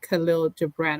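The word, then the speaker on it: Kahlil Gibran: So that is the word on the street from Khalil Gibran.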